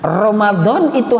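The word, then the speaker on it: رمضان: ini dalam kitab ini Romadhon itu harus disebut maka pengucapannya harus bener Romadhoni jangan Ramadan ingetin puasa wajib entah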